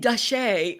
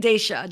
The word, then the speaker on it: Daisha: I keep saying Dashe, or I was saying other things, but how do you say it? Daisha, Dr. Daisha.